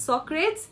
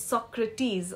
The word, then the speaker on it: Socrates: we talk about Socrates it's not Socrates it's Socrates okay so with that